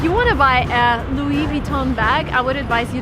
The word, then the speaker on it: Louis Vuitton: is from there so the right way to pronounce the name of the shop is louis vuitton again everything is french come on so everything needs to be pronounced in a french way if you want to